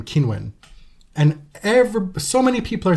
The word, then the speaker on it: Qinwen: being told by Qinwen that I should be pronouncing her name Qinwen, and so many people are saying, actually, this